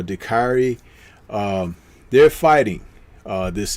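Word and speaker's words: Dicaire: woman of marie eva de care i think her name is pronounced or dakari um they're fighting uh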